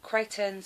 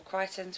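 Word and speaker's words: Creightons: in itself this um creighton's or crichtons whichever you pronounce it k pro um keratin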